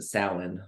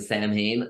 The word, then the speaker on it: Samhain: Carl Met because uh I was originally doing the salmon whereas most people pronounce the Samhain um we were doing